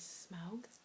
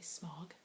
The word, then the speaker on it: Smaug: to come wretch as smug or as Americans say Smaug the dragon and Martin